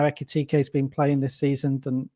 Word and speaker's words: Ekitike: You're going to have to pronounce that for me. I always get him wrong. To score any time. Ekitike.